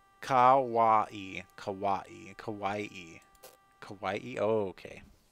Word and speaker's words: kawaii: Heaven sent, bouncy, kawaii, I don't know how to say that word.